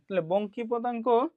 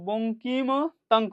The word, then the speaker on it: বঙ্কিমতাঙ্ক: বের কর এটাকে আমরা বলি রুটওভার বিটা ওয়ান বঙ্কিপতাঙ্ক সরি আমি উচ্চারণ করতা আমরা যেহেতু এটা মেনলি উচ্চারণ বঙ্কিমতাঙ্ক ঠিক আছে ইংলিশে বলা এটা স্কিউস ঠিক আছে